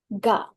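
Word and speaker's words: が: Kalau ditambahkan tanda kutip, nama tanda kutip itu bahasa Jepang adalah teng-teng, maka dia dibaca bukan ka lagi ini ya, bukan ka lagi, tapi dia dibaca sebagai ga.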